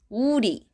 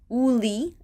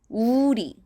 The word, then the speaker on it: 우리: Be careful, a lot of people read it as 우리, as in the English, but 우 and 리 are separate syllables, so make sure to articulate it separately. 우리, 우리.